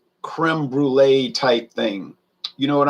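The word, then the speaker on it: crème brûlée: crom brule i say it's not crumb brulee it's creme brulee now he'll laugh and say how do you say it i say creme brulee so it's almost like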